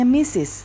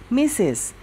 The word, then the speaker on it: Mrs: ini ada Miss Neneng ini dibacanya missis ya misis Nah Mrs Neneng cooks